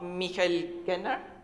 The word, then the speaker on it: Michael Genner: Here in Austria, only a few weeks ago, many of you will have heard about the case of Michael Genner, that's how you pronounce it, the chairman of Asyl in Not,